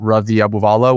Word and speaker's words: Ravi Abuvala: It's all the exact same, just at Ravi Abuvala, which I think Michael will put in the notes. Can you spell it for the audio folks?